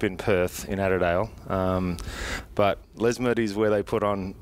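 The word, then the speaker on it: Lesmurdie: Les Murdy.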